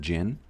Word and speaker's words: Jhin: at Jhin spotlight and it is pronounced Jhin like the drink.